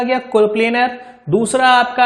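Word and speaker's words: coplanar: देखो कोप्लेनर force of system जानने के लिए जैसे ही आप प्रोनाउंस करोगे कोप्लेनर, तो कोप्लेनर वर्ड के अंदर एक प्लेन का साउंड आता है, प्लेन।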